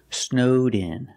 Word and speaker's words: snowed in: say they're snowed in pronounce the Ed with a D sound link it to the next sound snowed in they're snowed in and